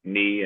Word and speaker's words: knee: It's kind of funny how like certain words have like when that have silent letters like knee and knife like can there we go with TJ's.